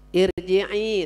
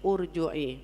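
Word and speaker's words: ارجعي: kalimat apa tuh ya irji'i sudah kelihatan tuh irji'i tapi di situ tulisannya di atas hamzah wasal di atas ya orang enggak ngarti enggak ngaji bacanya urjui. Urji'i padahal irji'i gitu ya.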